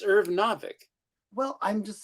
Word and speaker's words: Irv Novick: I was always saying Novik. Novick. I Irv know, but Novick. it could be pronounced Novik. It's Irv Novick.